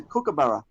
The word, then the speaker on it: kookaburra: one little thing now your pronunciation of our Aussie animal but you just mentioned then is that a custom pronunciation or kookaburra that's Australian it's a kookaburra kookaburra I saw on